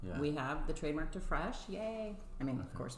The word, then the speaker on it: Fresche: And it's spelled differently than what you would hear it as Fresh, because that right?